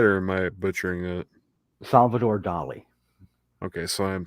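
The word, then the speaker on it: Salvador Dalí: Salvador Dali.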